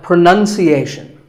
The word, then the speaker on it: pronunciation: you say it well we say pronounce pronounced and pronouncing but pronunciation there's no noun in this word it's pronunciation word number two is says